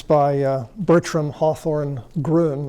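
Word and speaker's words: Groene: it's by bertram hawthorne groon that's why i pronounce the name that's g-r-o-e-n-e it's a superb little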